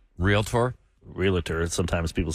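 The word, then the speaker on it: Realtor: the National Association of real real tor and it had it in parenthesis real tours like not real Ator oh real tour to pronounce it cuz there it's not it's not realator I know I don't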